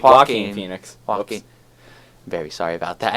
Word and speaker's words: Joaquin: Phoenix, if that's how you pronounce it. I may Joaquin I think Phoenix. it's Joaquin Phoenix.